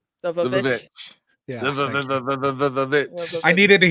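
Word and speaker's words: The VVitch: We did our longest after party ever for the witch, but can you please pronounce it correctly, Forrest? The Vavitch.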